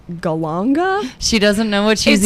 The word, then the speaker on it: galangal: and there's this ingredient I think it's pronounced go longer she doesn't know what